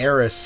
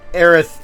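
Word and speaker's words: Aerith: PlayStation one um translation her name was supposed to be aith but like they translated it to AIS for some reason and I'm not sure why they did that but aith is the proper pronunciation from what I've been informed of they probably fix it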